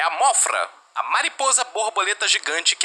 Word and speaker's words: Mothra: chamam de Mothra ou Mozura. Eu chamo de Mothra porque as versões que eu assisti dos filmes eram as versões em inglês e a pronúncia era Mothra, semelhante à palavra em inglês moth, que significa mariposa.